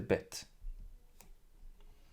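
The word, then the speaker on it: בית: this letter, inside the Bet. That's because this letter has two different pronunciations. First of all, Bet, B, like the English equivalent, B. So with the dot, we read it as B, Bet.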